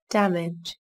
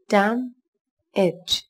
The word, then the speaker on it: damage: Damage. Damage. Damage. Các bạn lưu ý, từ này có hai âm tiết, trọng âm rơi vào âm tiết đầu tiên các bạn nhé.